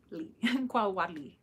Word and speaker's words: Xocolatl: I want to make sure that I am pronouncing it correctly. So Xocolatl. Xocolatl.